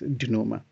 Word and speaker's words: denouement: This word is actually pronounced as denouement.